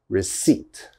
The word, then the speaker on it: receipt: it receipt receipt now one of these letters definitely i'm not pronouncing receipt receipt i hope you can't hear this p because i am not saying the p all right that p is silent okay we do not pronounce the p so it's receipt receipt never never never never say receipt or something like that that is definitely wrong receipt receipt you have